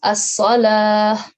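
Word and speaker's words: الصلاة: Okay, we will pronounce this ta as a ha if we are stopping here. Okay, so it is as-salah.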